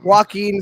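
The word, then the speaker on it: Joaquin: right the Joker with Ashton Phoenix it that's not how you pronounce his name but sure I you know what I mean though right that's not at all it's walk it's walking Phoenix and but yes either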